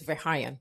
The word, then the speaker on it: Verheijen: It's Verheijen. It's Dutch.